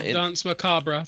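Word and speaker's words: danse macabre: the dance maab yeah dance macabra that's how you pronounce it in French okay so um see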